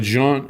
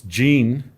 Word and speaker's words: Jean: oh okay yeah but john it's jean like jeans yeah john john yeah